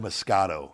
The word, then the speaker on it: Moscato: This one, it said deliciously sweet, and it's a red Moscato. Is that how you pronounce it?